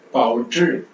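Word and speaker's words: 报纸: நாக்க மடக்கி பண்ணணும், ZH, ட்ரு, ட்ரு, பாவுச்சு, பாவுச்சு, பாவுச்சு, பாவுச்சு, பாவுச்சு, பாவுச்சு. இங்க வந்து நம்ம இந்த ZHI வரும்போது இங்க ஜே சவுண்டு யூஸ் பண்ற மாதிரி வரல, ட்ரு. ஸோ DCH அப்புறம் ஐ, ட்ரு. நாக்க மடக்கி ப்ரொனவுன்ஸ் பண்ணணும், ட்ரு, பாவுச்சு, பாவுச்சு, பாவுச்சு, பாவுச்சு, பாவுச்சு, பாவுச்சு, பாவுச்சு.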